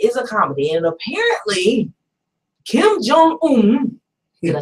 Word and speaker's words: Kim Jong-un: It is a comedy, and apparently, Kim Jong-un, did I say it right?